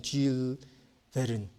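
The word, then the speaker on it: Jules Verne: 불어라 발음이 조금 다른 거죠. 이름 써 있잖아요. 쥘 베른 이렇게 읽는 거래요.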